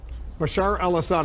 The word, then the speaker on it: Bashar al-Assad: Assad in in charge Bashar al-assad I know you've mispronounced his name a few times uh but uh it's Bashar al-assad I know the uh